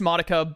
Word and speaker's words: Madoka: You said Madoka instead of Madoka. Oh, Madoka. I was told it's pronounced Madoka by the lead of Annabelle.